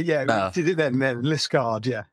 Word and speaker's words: Liskeard: We did it then, Liskeard, yeah. Liskeard. Yeah. It's got that rogue E in there.